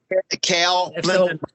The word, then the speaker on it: Kale: So, how do you say his name? Callie? Is that how I say it? Kale. Kale. Okay, Kale.